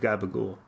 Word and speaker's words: capicola: into a piece of gabagool. And people thought. And what is gabagool for those of us not from the East Coast? It's the regional pronunciation for capicola, type of Italian cured meat, not dissimilar from bologna.